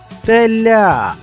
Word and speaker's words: теля: слухайте наголос то визначити наголос можна вимовивши слово наприклад теля який склад наголошений у цьому слові теля правильно у цьому слові наголошений склад ля дівчинка а в цьому